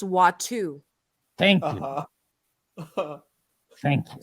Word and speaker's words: Watto: and be named person I think it's actually pronounced watu thank you thank you